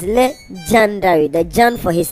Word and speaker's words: LeGyandary: like we said before legendary is spelled with a y after the g so that it is le gendari that john for his